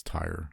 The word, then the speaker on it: Tyre: But like, there's one instance, it's in Tyre, Tyre, which is like Tyre. It's Tyre. It's pronounced.